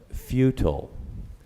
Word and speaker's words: futile: The word is futile. It's an adjective, and it means serving no useful purpose, ineffective, or fruitless. Futile, also pronounced futile or futile.